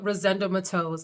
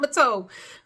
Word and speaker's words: Rosendo Mateu: Then we have the Rosendo Mateus. Let's talk about these. Actually, excuse me, someone shared with me how to pronounce it. Rosendo Mateu. Mateu. It's not Mateo.